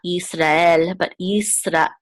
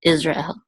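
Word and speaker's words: ישראל: syllable out says and you want to make sure that there's like a good real stop between the ra and El so it's not Israel this is of course Israel so if I he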